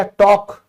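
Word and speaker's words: talk: तो आपने कभी ध्यान दिया टॉक। टॉक बोलते हैं। यह भी साइलेंट है।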